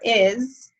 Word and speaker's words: hay: And like I said, we don't pronounce H's in Spanish, so it's pronounced I, like I am.